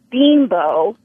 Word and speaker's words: Bimbo: American goddamn it Sara Sierra hi hi it's pronounced bean Bo and there's a whole commercial you should play